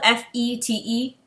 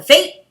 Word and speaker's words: fete: the little palace at the fett the fate it's spelled f-e-t-e and i were reading the books called it the fete and then when i watched the show it's called the fate and i'm like bro with these words changing